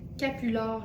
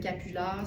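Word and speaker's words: capulard: chercher avec le mot capular. Ça s'écrit comme ça se prononce, le croisement entre capuchon et foulard.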